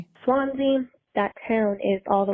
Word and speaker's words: Swansea: though there is a Swansea in Massachusetts but it's called Swan like it's spelled out swans s w NS E A SW along along the